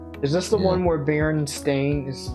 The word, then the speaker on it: Berenstain: Is this the one where Berenstain is pronounced correctly?